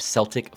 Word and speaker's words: Celtic: now I should State I am pronouncing a Celtic because what I have read states that using the C Sound is what you use when you refer to the group of people now as someone who